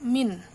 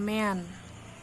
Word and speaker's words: mean: kita masuk ke Hai Min ya ingat ya bacanya mint bukan mean tapi min min itu rata-rata rumusnya